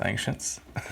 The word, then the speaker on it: Anciients: a band called ancients with two eyes a n c i i n TS so I guess it's pronounced ancients where are they from Vancouver